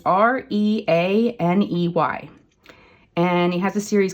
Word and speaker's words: Reaney: So Hiroko Rainey or Riani. It's Reaney.